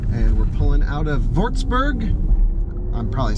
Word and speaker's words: Würzburg: And we're pulling out of Würzburg. I'm probably saying that wrong. To me, it looks like Würzburg, but W's are pronounced V's.